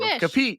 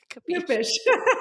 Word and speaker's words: Kupish: Kupish. Oh my God. Kupish.